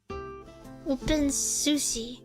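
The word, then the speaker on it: openSUSE: Open Sussy? Open Sussy? How do you pronounce it, please? Tell me. Open Susie? Please. Susie. A Susie. Yeah. Open Susie.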